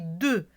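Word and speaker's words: deux: Mais on ne dit pas de X, on dit 2. X, on ne le prononce pas. C'est une lettre muette.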